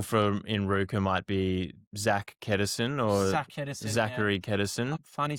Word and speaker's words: Zach: I was like joking, called him Zachary, and it's not Zachary, it's just Zach. Get your name correct, pronounced correctly. Yeah.